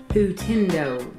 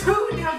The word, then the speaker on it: Hootendow: Say my name. Hootendow. That's not my name! Why did everyone say Hootendow? It's Hootendow. My thing is Hootendow.